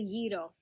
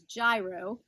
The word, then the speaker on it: gyro: first we have the yiddle commonly known as gyro but that's not really how you say it it's spelled with a